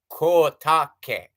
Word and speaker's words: Kotake: And everybody's like Kome and Katake. It's like, no, no, no. Koume Kotake. So you see what I mean?